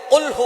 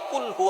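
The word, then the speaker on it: قُلْ: আল্লাহ পাক রাব্বুল আলামন এখানে বলছেন কুলহু আল্লাহু আহাদ। এখানে কফ দিয়ে পড়ছেন কিন্তু অনেকেই ভুল করে উচ্চারণ সঠিক না হওয়ার কারণে তারা পরে কাফ দিয়ে। কুলহু আল্লাহ।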